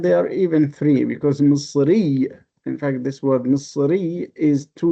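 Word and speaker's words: مصر: So the people from Egypt, they do not pronounce it Misr, they pronounce it Masr.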